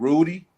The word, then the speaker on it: Rudi: So I decided to go ahead, Rudi. That's how to pronounce his name.